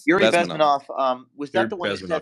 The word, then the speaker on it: Bezmenov: How to pronounce his last name? Yuri Bezmenov. Yuri Bezmenov.